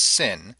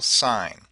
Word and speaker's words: sin: s n but do do not pronounce it as Sin unless you want to drive your teacher crazy and or you want to sound illiterate it is still sign if you say you